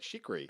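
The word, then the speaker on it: Chriqui: But my favorite one is, and I'm going to mispronounce her last name, but Emmanuel Chikri. That's how you say it. Chikri.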